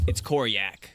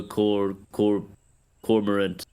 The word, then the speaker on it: Koryak: No, it's Koryak. It took me a long time to say it right too. We're gonna get revenge for Cormorant. No, Koryak. Took me a while to get it too.